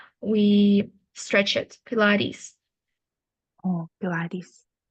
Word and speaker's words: Pilates: I try doing and then pronunciation of word pilaris so it's pronounced as pilis so e is like like we stretch it Pilates oh Pilates M okay very nice good job